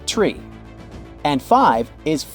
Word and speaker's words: three: you'd expect for example the number three is said as tree and five is f